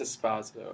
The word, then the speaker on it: Esposito: Oh, that's Esposito. Esposito's like, that pronunciation's Italian.